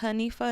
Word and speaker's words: Hanifa: So it's pronounced Hanifa in Arabic, but my name is Anifa.